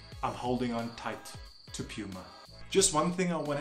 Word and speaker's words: Puma: across the world but the most common and the one that is most reliable is Puma not Puma so you decide how